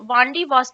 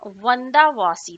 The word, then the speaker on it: वंदावासी: वांडीवॉस जो कि ब्रिटेन के पास था, जिसका एक्चुअल नाम वंदावासी था। क्या नाम था? वंदावासी था। अंग्रेज इसका प्रोनाउंसिएशन वंदावासी नहीं कर पाते थे, तो उन्होंने ही इसका नाम वांडीवास किया।